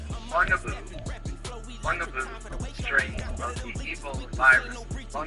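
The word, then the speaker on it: Bundibugyo: It's called bungaboo strain of the evil virus and that is correct pronunciation.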